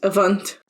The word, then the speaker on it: Avant: So I don't want the Ordinary to interfere with Avant, or whatever it's called, pronounced. Just help me, it's Avant.